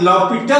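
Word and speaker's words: L'Hôpital: जैसे इसमें कनाइफ में के को साइलेंट और इसको पढ़ते हैं नाइफ, उसी तरह से इसको हम लॉपिटल पढ़ते हैं, लॉपिटल।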